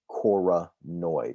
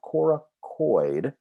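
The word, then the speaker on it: coronoid: the cora choronoid process choronoid not coracoid it's called the choronoid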